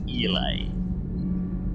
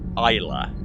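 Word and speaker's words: Islay: aroma of a fine elase scotch and see i was supporting you for once right up until then before you pronounced it eli isla oh just hire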